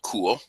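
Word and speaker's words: Kuhl: It's called Cool. And it's spelled K-U-H-L.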